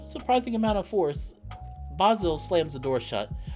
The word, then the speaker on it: Basil: I'm Basil, like the plant.